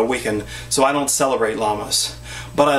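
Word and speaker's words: Lammas: I call it llamas, not like llamas. Where's my llamas? Here's my llamas. They're not llamas like this. It's spelled L A M M A S.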